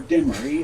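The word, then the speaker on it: Demarest: the de marie family's ancestor david dismarest or de marie as they pronounced it barely made the atlantic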